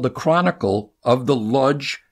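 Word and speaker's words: Łódź: The Chronicle of the Lodge, L-O-D-Z, pronounced Vudge, ghetto.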